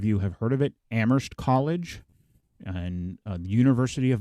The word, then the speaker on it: Amherst: mass which is in amherst and they say amherst they pronounce the h no if you're local and you're from around here sorry you don't pronounce the age so now